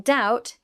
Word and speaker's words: doubt: In "doubt", the "b" is silent.